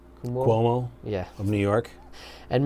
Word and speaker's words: Cuomo: people like governor help me say his name kuhmo Cuomo yeah of New York and mayor de Blasio